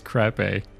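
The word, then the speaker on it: Krappe: in now don't laugh in crap a Baylor crape I looked up the pronunciation of this last name and yes it is crape uh okay where was I Baylor Pages 114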